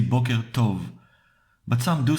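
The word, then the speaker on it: טוב: one the translation goes like this good means tov or tov morning means booker you pronounce it like so notice that in hebrew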